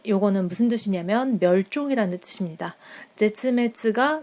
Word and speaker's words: 絶滅: 제츠메츠가 멸종입니다. 한국어 한자 발음과는 좀 달라요.